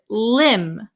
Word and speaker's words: limb: B Marcel very good the B is also silent so we would pronounce this word limb Lim okay then the